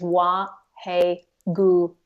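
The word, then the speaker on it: Wahe Guru: So the mantra is Wa He Guru. Wa He Guru. So with Wa He Guru, there are like 4 syllables.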